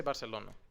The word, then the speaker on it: Barcelona: okay what your pronunciation it's like the people that say Barcelona Barcelona if you're not Spanish just say Barcelona it's like saying espresso